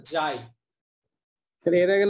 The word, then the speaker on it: xi: হচ্ছে জাই এক্স আই এটার উচ্চারণ হচ্ছে জাই স্যার এর আগে না গোজাই বলেছিলেন নাকি এরকম ওটাকে বেসিক্যালি জাই বলা হয় আর কি